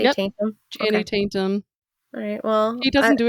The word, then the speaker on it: Channing Tatum: um, Tainty Chanum. I was like, "Did you just say taint? Did you say Yep, taintum?" Okay. Channing Tatum.